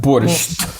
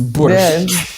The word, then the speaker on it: борщ: It's not borscht. It's borscht. Yeah. Borscht. The last sound is ch, not.